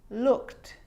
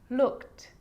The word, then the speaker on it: looked: its own syllable but a lot of the time that e isn't pronounced looked asked played baked wrapped now they could be a little bit tricky so let's do it again looked asked played baked wrapped